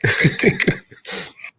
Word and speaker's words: Petrika: Oh. Petrika. That's how you say it. Petrika. So he sent me a message through Facebook and said, "This is how you say my name."